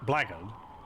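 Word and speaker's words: blackguard: the word black guy black card is pronounced blagon oh okay is that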